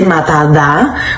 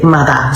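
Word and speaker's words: matá: We wouldn't say mada da, which is how you would spell it like the correct way. You would say mada.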